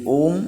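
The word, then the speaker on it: ओम: আকার ব্রহ্মের বিরাট স্বরূপ এটা আমরা ওকার যে বলি অম এই নিয়ে হলো ও সঠিক উচ্চারণ এই ওম হলো অ আর ম এই তিন পদ তাই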